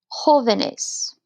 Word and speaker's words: jóvenes: Jóvenes. You'll notice here we did have to add in a written accent mark because we want to keep the stress on joven, on that J-O syllable.